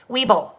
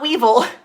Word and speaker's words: Weeble: i might do that weeble now not weevil not a weevil not like the little things that come in flower well hopefully they don't